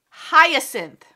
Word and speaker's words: hyacinth: let me google it hold on hold on hyacinth oh my goodness english language just sucks because